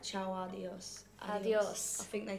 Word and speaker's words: Ciao Adios: I say Ciao Adios, but you pronounced it right. Ciao Adios.